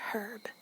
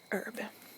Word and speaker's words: herb: that some people say herb and I find that odd because I was always told that the H is silent so I don't know to each their own herb and schedule um I